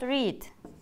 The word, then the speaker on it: read: And what about read? Do you know? Wrote. Wrote. Write. Wrote. Guess. Read, yes. It writes same, but you pronounce different. Read. Read, read. Like color, red.